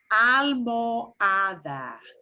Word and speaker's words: almohada: Now we've got an H in the middle. So this is harder for us English speakers. Almohada. Almohada. Almohada. Almohada. Pillow. If you're in a hotel, somebody might have forgotten to replace a pillow. You need to ask, ooh, almohada. Una almohada. Almohada. And the O slides straight into the A.